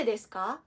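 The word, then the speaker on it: ですか: dapat siya So nand deska nand deska why why nand deska kung mapapansin niyo no yung letter u sa desc ay hindi masyadong binibigkas it is a soft vowel sound Ayan so deska yung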